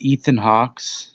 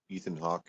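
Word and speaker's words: Ethan Hawke: than that and it's Ethan Hawks is that how you say his name Ethan Hawk Ethan Hawk yeah no s I think it's just Ethan Hawk so he's in the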